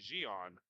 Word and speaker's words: Jean: apologize back home but the man number three for The Syndicate that I've been saying Jean is actually jion so we'll get that